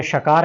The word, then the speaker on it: श: श, तालव्य। तालव्य यानी तालू से बोला जाने वाला। तालू से कहां से बोलते हैं? जहां से च बोलते हैं आप।